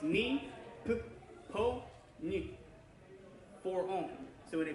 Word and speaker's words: Nippon: kind of, for instance, Nippon is a two-syllable word. That's Japanese for Japan, the Nippon Koku. But it's a for-own word because it's, the N is its own, on, and then the P gets one on, P-O gets another one,